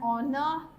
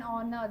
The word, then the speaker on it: honor: egg yes so an honor see you say an honor the reason is h is silent here so when your word